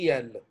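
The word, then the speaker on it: elles: मुजक्र कर रहा है ज्यादा को एल एल्स नहीं कहेंगे एल यह दे है और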